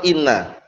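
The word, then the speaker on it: إنّ: Tempat-tempat yang inna itu di kasrah. Paham ya? Nah, di kasrah. Nah, bacanya inna. Paham ya? Bukan anna tapi inna. Di kasrah apanya? Hamzahnya itu.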